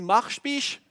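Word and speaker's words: Marspich: qui ne savent pas c'est un village qui s'écrit mashish mais nous on dit marche biche sais pas personne ne sait expliquer pourquoi mais c'est comme ça on a été le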